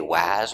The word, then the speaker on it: was: It is a letter A in was, but we don't say was or was. We say was. We use the relaxed was. And that S is pronounced like a Z with vibration. Z.